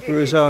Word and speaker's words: Bruzzo: Set, so Matt Bruzzo and Victor. I'm gonna give you a pronunciation. It's three syllables. Bruzzo.